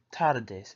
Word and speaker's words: tardes: Buenas tardes, pronounced buenas tardes.